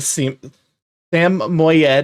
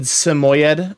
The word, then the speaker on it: Samoyed: You're playing a Sam Moyed is how I hear people pronounce it typically. I always said Samoyed.